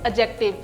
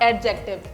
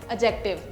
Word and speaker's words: adjective: The pronunciation of this word is adjective, not adjective. D is silent here, adjective.